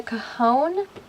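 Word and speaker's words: cajón: you thought was a cone um it's a cajon i believe it is spelled c-a-j-o-n um if you type it into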